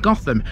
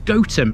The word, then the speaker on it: Gotham: either rather this is goam and that pronunciation makes sense because it comes from goat Farmstead or place where goats were kept the Gotham pronunciation is